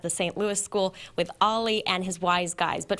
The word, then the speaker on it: Owlie: our air right now it's owly well it's ollie but it's spelled owly skywarn nws and i'm